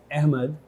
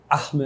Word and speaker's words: Ahmed: क्योंकि यह एक ऐसा नाम है जो कई अलग-अलग संस्कृतियों में मौजूद है। जैसे पाकिस्तान में यह अहमद होगा। अरबी भाषी देशों में यह अहमद होगा।